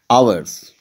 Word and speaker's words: Hours: Hours, here H remains silent.